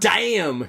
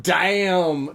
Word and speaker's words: Daim: But it's spelled, the name of the candy is DAIM. So I'm sorry in Swedish it's like damn or something like that, right? Damn, it tastes good.